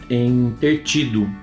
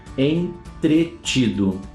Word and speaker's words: entretido: Normalmente, quando a gente ouve no discurso oral, acaba saindo a palavra entertido. Entertido. Foi até difícil lembrar como é que era a pronúncia. Entertido. Já escutaram essa? Fulano estava entertido, fazendo atividade, fazendo dever de casa, fazendo qualquer coisa. Entertido. Não. A palavra, vamos de novo, é entretido.